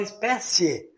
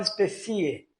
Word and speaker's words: espécie: o é mais forte espécie você fala espécie você não fala especie Então veja bem que